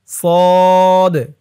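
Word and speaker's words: ص: খালি তারপরেরটাশিন তিন দাঁতের উপরে তিন নুক্তাশিন সিনশিন সদ সদ অনেকে বলে সোয়াদ সোয়াদ বললে কিন্তু উচ্চারণটা শুদ্ধ হয় না বলতে হবে সদ সদ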